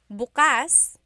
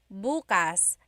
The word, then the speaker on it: bukas: pronunciation if you say Bas buas the emphasis is on the second syllable that means open if you say buas buas emphasis is on the first syllable that means tomorrow very interesting like oh